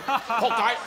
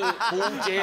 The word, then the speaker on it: 仆街: 啦，因为我们没有要念成破街啊，我们是铺街啦啊。